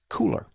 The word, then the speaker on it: Kuler: today may I suggest cooler now it's spelled kul ER but it is called cooler as in hey it's cool what is it well